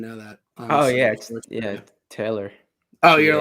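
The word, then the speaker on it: Talor: yeah i didn't know that oh yeah yeah taylor oh you're like a you're like a gooch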